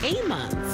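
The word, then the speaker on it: Ammons: a based on a true story of Latoya a mon that's how you say her name then we're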